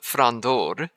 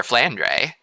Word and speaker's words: Flandre: northern part of Belgium note that the pronunciation of her name in Japanese goes more along the lines of fror rather than Flander since her name in Katakana was not fondor which would have been the more relevant Katakana for Flander generally there isn't any